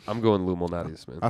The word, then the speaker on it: Lou Malnati's: say Mao Nadi's what'd he say I'm going Lou Malnati's man I said Lou Malnati's what do you